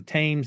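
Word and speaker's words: Thames: a boat float down to tames they spell it weird but it is lovely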